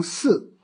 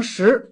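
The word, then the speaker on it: 食: 这个读音呢，第一个十字只能读成四，第二个读音呢，读成四，读成十都可以讲。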